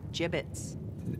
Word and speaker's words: gibbets: It's pronounced gibbets.